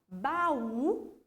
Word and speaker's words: baú: A professora trouxe ali como exemplo para vocês a palavra baú, ó, eu aumento o tom de voz no U.